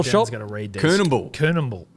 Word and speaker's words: Coonamble: Coonamble. Is that how you say it? Canamble, mate.